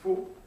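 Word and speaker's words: Fon: Maulisa in the language of the Fu, spelled F-O-N, but pronounced Fu.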